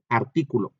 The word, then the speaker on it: artículo: Vean, artículo, ar, primera sílaba, ti, segunda sílaba, cu, tercera sílaba, lo, cuarta sílaba. Pero como nosotros siempre vamos de derecha a izquierda, pues lo es la última, cu es la penúltima y ti es la antepenúltima y ahí es donde estamos viendo ubicados el acento en